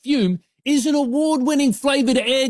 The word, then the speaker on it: Fume: FUM, pronounced Fume, is an award-winning flavored air device used by more than half a million customers.